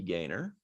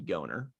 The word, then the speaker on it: Gaynor: model, and fabricator, Jackie Gaynor. Sorry, I always pronounce it the German way. It's Jackie Goner.